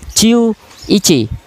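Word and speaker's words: 十一: Kita gabungkan ya pengucapannya seperti ini. Untuk angka 11 kita bisa ucapkan seperti ini. Ciu ichi.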